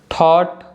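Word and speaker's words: thought: ई आई और यू इन पांचों vowel letters के बाद अगर जी एच आता है तो जी एच हम नहीं प्रोनाउंस करते हैं ठीक है जैसे कि थॉट डॉटर तो आप देख सकते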